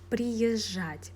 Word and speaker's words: приезжать: We don't pronounce z and we pronounce ж very softly.